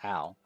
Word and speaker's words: Ao: some people literally pronounce Lord Ao, but I've always thought it was meant to be pronounced with the Ow. Asian flair of Ao.